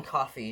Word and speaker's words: Coffey: was not expecting was john coffey not spell it's like the drink might not but still